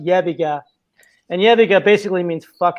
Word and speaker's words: Yebiga: But I am getting a lot of people from Serbia who hear about it because it's pronounced Yebiga.